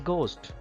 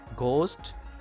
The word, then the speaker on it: ghost: through first one is ghost just guess which letter is silent in this word that is h you can underline it ghost h is silent here whiteness just guess which